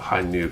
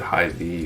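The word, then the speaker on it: Hi-ν: Remember a story of a place limiting the RG Hainu by asking you to pronounce the name of Hainu correctly. If you said Hi V, you got denied.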